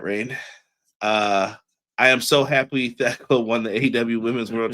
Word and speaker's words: Thekla: It's Thekla. The H is silent.